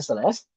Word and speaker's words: Celest: Yang satu namanya Celest, tulisannya Celest tapi bacanya Selest.